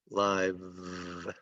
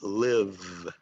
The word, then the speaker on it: live: Okay, the E is silent here and live, so this is live, live. Or it could be live, live, depending on how it's used.